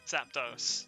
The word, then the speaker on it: Zapdos: Zapdos, it's Spanish, so it's pronounced dos.